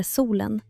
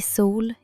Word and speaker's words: sol: L i sol är mjukt och lätt.